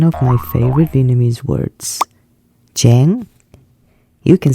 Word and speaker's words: chán: my favorite Vietnamese words Chang you can say this word like native regardless of your IQ let me break the word down into three parts the consonant CH sounds like J in English e PC j j